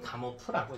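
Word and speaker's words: Gamow: 혹은 뭐 가모프라고 읽기도 해요. 가모 혹은 가모프라고 읽습니다.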